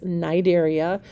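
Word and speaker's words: Cnidaria: is um the Nigerians that c is silent and then it's pronounced with a long I so it's nidaria or narian it literally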